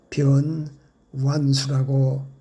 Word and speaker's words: 변완수: 성과 명은 뛰어서 읽어야지요. 변 완수라고 불러 주십시오.